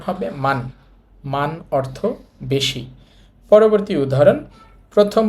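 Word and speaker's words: 많: দেখেন একটা হিউত আছে আমরা একটু আগেই দেখেছি হেউত নিচে থাকলে উচ্চারিত হবে না এখানে যেহেতু হিউতটা নিচে আছে সুতরাং এটা বাদ দিতে হবে এই শব্দটার উচ্চারণ হবে মান অর্থ বেশি পরবর্তী উদাহরণ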